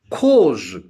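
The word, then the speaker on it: corps: And in cause, C-O-R-P-S, C-O-R-P-S, cause, P is silent here.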